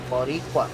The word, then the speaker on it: Boricua: Yeah, Boricua.